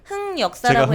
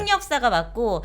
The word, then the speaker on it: 흑역사: 흑역사가 맞고 하지만 이 흑역사가 뭐 이게 완전 틀린, 사전에 등록된 그러니까 공식적인 단어는 아니기 때문에 어떤 발음도 상관은 없지만 네. 기본적으로는 흑역사가 맞다. 왜 흑역사가 맞을까? 색연필 생각하시면 됩니다.